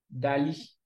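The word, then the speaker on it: DALL-E: chat GPT open e qu'on appelle Dali c'est comme ça que ça s'écrit dal et puis e vous voyez a le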